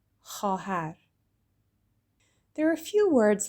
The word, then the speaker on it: خواهر: So it looks like خواهر, but the vav in the middle is silent. So we just say خواهر.